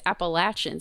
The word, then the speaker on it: Appalachian: The actual answer is Appalachian State University.